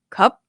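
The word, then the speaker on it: ครับ: So the cup cup high tone. Yeah. Cup. So that's syllable. So I usually just tell my students to um add the B at the end. Right. Cup. Cup. And then we try to stretch a bit. Cup. Cup. So you get the feelings what it's like to have a high tone with a long vowel cap.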